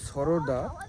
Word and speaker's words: সুরাডা: জায়গাটার নাম হচ্ছে সরোডা সরোডা আর ড্যামটার নাম হচ্ছে সোরাডা আচ্ছা ড্যামটার নাম হচ্ছে সুরাডা উচ্চারণ সোরাডা সোরাডা যাইোক উচ্চারণটা